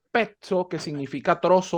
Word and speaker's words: pezzo: Pezzo, pazzo, pizza y todas las palabras que van con doble Z, en este caso, va igual. Se pronuncia como que si la primera Z fuera una T y la segunda fuera una S.